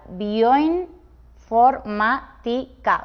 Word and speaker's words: bioinformática: Aunque suene extraño, se pronuncia bioinformática, o sea que esta sílaba tan larga con esas tres vocales sería una sílaba sola y tendría un triptongo en ella.